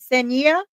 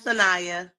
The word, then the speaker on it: Sanaya: A voice for the lost says that, is it Senia? Is that it? I don't want to pronounce it wrong. It's okay. It's Sanaya. Sanaya.